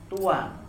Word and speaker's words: Tuhan: apa kalau kita lihat hurufnya itu tuhan Tapi bacanya Tuan nah ajaran tuhan itu